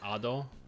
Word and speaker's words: Ado: Yeah, you pronounce it the second way. Ado.